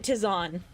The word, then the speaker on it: tisane: Yeah, but you pronounce it tisane.